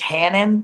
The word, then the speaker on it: Hannon: Is it Hanan? It's Hannon, but Hanan. People just call me that. It's Hannon though.